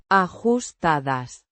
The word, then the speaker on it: ajustadas: Pronounced. Ajustadas. With stress on the second syllable.